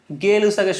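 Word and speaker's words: Gay-Lussac: ওকে এখন আমরা যাব হচ্ছে গেলুসাগের সূত্র মানে একচুি গে নাম এমনটাই বাংলা উচ্চারণ করা হয় ইংলিশের ওয়াই না যাই হোক এটা হচ্ছে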